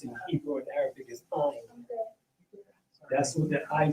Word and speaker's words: Ain: That's the way that's pronounced in Hebrew and Arabic is Ain.